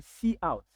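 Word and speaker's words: cout: one keyword called SE some people pronounce it to be C but then it is best to pronounce it to be see out mean meaning console out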